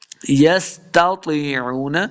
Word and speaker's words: يستطيعون: آواز آئے گی۔ یستطیعون، تا اور طا دونوں کی آواز بالکل ملتی جلتی ہے، ہم نے تلفظ میں فرق کرنا ہے۔ تا کو موٹا نہیں پڑھیں گے، طا کو موٹا کر کے پڑھنا ہے۔ تطیعون، تطیعون، واو